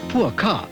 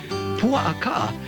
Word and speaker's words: Pua'aka: No, it's not pronounced Puaka or poor car, as many survivors of this wilderness road may tell you. Pua'aka actually means the Park of the Rolling Pigs.